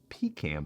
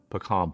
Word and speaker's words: pecan: Pecan pie. No. Pecan pie. That's how you say it, and it is dang delicious.